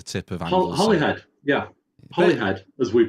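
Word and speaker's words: Holyhead: head at the tip of hly head yeah hly head as we pronounce it spel spell with one holy head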